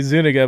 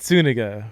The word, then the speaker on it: Zuniga: want to say it's spelled Z-U-N. So, I mean, you want to say Zuniga, but Zuniga. How's that? That's right. All Pronounce with an right. S.